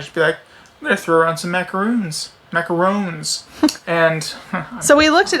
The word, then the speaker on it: macaron: on the edges anyway that's the macaroon these are macarons okay well we gotta get that distinction we gotta pronounce this right but yeah this is